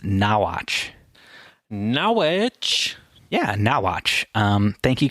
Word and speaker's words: Norwich: She said it's actually pronounced Nawatch.